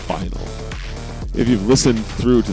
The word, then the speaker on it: Phynal: Not that anyone cares or wants to know that, but that's what it is and that's how it's pronounced. Not finel, not phenal, final.